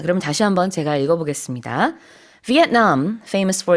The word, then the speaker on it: Vietnam: 참고로 베트남 이 단어는 영어로도 삼음절이긴 한데 베트남이라고 하지 않고요. 영어로는 Vietnam 이렇게 발음합니다.